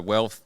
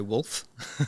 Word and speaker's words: WLTH: So Wealth, WLTH. I had to look at how do you pronounce that. That's it, yep. Yep. On Google, it'll probably say Wolf. But yeah, Wealth.